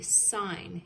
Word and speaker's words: sign: G-N, which makes the N sound. And M-B, which makes the M sound. They did number one for us. It is a sign, a stop sign.